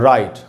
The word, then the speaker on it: right: अच्छा, दूसरा वर्ड है दोस्तों राइट, RIGHT, यहाँ पर भी I एक वावल है, उसके बाद GH है तो साइलेंट है।